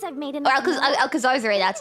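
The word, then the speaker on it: Alcazarzaray: Once I've made Or enough money, Alcazar-Zare, that's how you I'll buy pronounce a it again.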